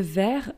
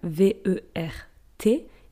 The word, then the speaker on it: vert: Le vert, V-E-R-T, is green. For instance, a green t-shirt, un t-shirt vert. But it's with a T at the end, we just don't pronounce it.